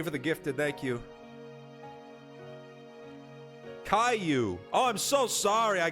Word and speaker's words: Caillou: do you say his name KU I've never seen the show